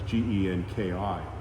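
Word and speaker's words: 元気: Like the word genki is health, and that's Genki. It's two Japanese characters, ki and It's pronounced Genki.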